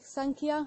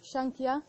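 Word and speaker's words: Sāṃkhya: all the yoga techniques written like this but actually pronounced with an N so can be pronounced like Sankhya or Shang kiya depends which place from India you come from and it's the basis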